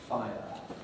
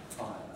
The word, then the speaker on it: fire: eye followed by earth fire fire my analysis of this is that basically nowadays this is a three a two-syllable word fire fire and you'll notice that in singing it can occupy two notes sometimes doesn't happen because